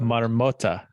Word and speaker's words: marmota: Marmota is how you say it.